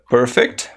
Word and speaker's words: perfect: The perfect perfect perfect com a tônica no início Perfect Ok Inclusive ess essa daqui é uma palavra que ela pode também ser pronunciada como com tônica no final Perfect Mas aí seria um verbo tá Perfect adjetivo Perfect aí vira o verbo né aperfeiçoar então perfect perfect são duas